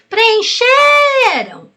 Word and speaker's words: preencheram: acento Mas você olha qual é a mais forte você pode até chamar a palavra aquela que se prolonga é a sílaba tônica preencheram viu o x ficou mais forte Então essa palavra é paroxítona e decoração de ração